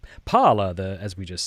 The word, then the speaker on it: Parler: Okay, on Monday, that would be today, the social media site Parler, or Parlay if you need to say it like that, filed a lawsuit against